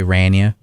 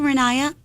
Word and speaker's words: Rania: Rania. So many people mess up my name. They say Rania. Rania. Oh, I hate when people call me and they're like, yes, hi, can I speak to Rania?